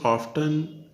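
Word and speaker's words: often: अभी देखिए, in writing there is ऑफ्टन an exclamation marks, ठीक है। तो अक्सर क्या होता है, इसका प्रोनाउंसिएशन ऑफ्टन और ऑफन दोनों होता है।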